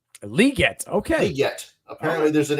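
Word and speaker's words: Legette: been pronouncing it wrong the whole time it's pronounced liette liette okay liet apparently there's an extra e in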